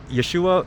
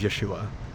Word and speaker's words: Yeshua: a Jew and you if Yeshua is is you know the true pronunciation of Jesus I'm a true follower of Jesus Christ and his his name as it was pronounced you know originally it was Yeshua and I do this